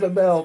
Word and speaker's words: Amell: Stephen Am Amell. Pronouncing it right?